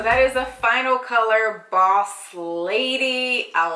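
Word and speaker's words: Bawse Lady: Okay, and now we're on to the very last color that I purchased, and this one is Boss Lady, and that's spelled B-A-W-S-E, Boss Lady.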